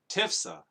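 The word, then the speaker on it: Tiphsah: Now at that time, Menahem started out from Tirzah, attacked Tifsha, Tifsha, Tifsha, Tifsha, Tifsha, Tifsa, Tifsa, that's how you say it, Tifsa, and everyone in the city and its vicinity, because they refused to open their gates.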